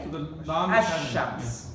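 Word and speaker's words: الشمس: Shamsiyya is we don't pronounce the letter after the lam, like ash-shams, sheen. We don't say al-shams. We say So the lam is ash-shams.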